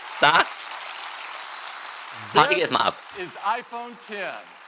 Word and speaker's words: iPhone X: Wie wird ausgesprochen? iPhone X, iPhone 10? Was ist es? Sagt's. Party erstmal ab. Is iPhone 10. iPhone 10.